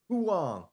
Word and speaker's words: Huang: send you this link I um Huang it's pronounced Huang Huang Andrew Huang okay Huang cool so he's